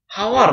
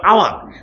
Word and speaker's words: hour: ঠিক আছে, রাকিব তুমি কান ধরে দাঁড়ায় থাকো, রাকিব তুমি কান ধরে দাঁড়ায় থাকো, এটার উচ্চারণ হবে আওয়ার।